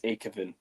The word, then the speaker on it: Aekavin: Also, if you if people are wondering how you pronounce my name, it's a Kevin. So, no. No. A Kevin. A Kevin. Pretty much.